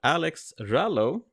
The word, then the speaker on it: Alex Rallo: a fantastic guest with us none other than alex rallo is that the way i pronounce it it is yeah hello alex hey